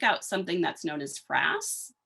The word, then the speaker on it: frass: something that's known as frass that's f-r-a-s-s rhymes with grass um and it looks